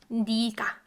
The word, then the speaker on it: 네가: It's spelled 내가, but usually when in like spoken form, when in casually when we're speaking, we pronounce it 네가, 네가. So it's spelled this way, guys, spelled with e vowel, this e vowel, when it's combined with 너. But when it's actually like spoken, especially in like casual situation, in casual context, we say 네가, 네가.